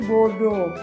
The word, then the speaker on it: bodo: langkutnya Nah ini namanya baju bodoh bukan bodoh ya tapi bodoh nah baju bodoh ini